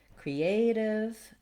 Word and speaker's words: creative: Creative and native both have the stress on the A and they have the diphthong A, so it's a long vowel there. They also both have that flap, so they have the same ending as initiative. The div is short and unstressed. For creative, the letter E does say the tense E sound here. Create, creative.